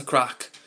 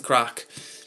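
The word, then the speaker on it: craic: Or or yeah, "What's the crack?" It means like what's going on, like what's happening. And in Ireland, um they say the same thing, but they spell it c r a i c, whereas in England, we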